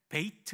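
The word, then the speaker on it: Bethlehem: 우리 예수님이 베들레헴에서 오셨잖아요 베들레헴이 원래는 베이트 레헴이라고 발음합니다 레은 빵이란 뜻입니다 빵집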